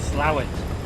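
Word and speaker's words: Slaithwaite: these pronunciations aren't we to me it's spelled s-l-a-i-t-h-w-a-i-t-e yeah that is slave weights but the northerners call it slow it but let's let i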